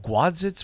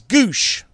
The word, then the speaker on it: Gwosdz: Gwadzitz? What's it? What is his name? It's Goosh. You pronounce it Doug Goosh.